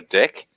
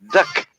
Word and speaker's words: deck: area, you have a deck, a DECK, a deck. Ask a New Zealand person, so how's your deck going, mate? Do you lay on your deck very often? And because they pronounce it duck.